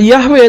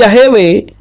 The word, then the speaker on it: Yahweh: yahwe tetapi yahewe ya tidak bisa dibaca yahwe tapi yahewe kenapa karena dibaca yahwe itu menyalahi aturan tata bahasa Tata tulis Ibrani karena huruf sewa setelah nikut panjang itu sewanya sewa bersuara bukan sewa bisu mungkin yang baru mengenal